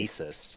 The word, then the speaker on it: Gnisis: It's just Gnisis. Gnisis. You don't Gnisis. pronounce the first consonant.